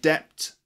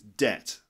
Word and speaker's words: debt: debt you know it's these lips should not meet when you say that word so it's not depth and it's not depth or depth its debt okay for example many